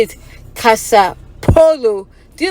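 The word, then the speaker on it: kasapɛfoɔ: poloo okay so now because Polo is a brand in America it's easier for her to say the polo like you're playing Polo game or the polo brand so let's say Kasa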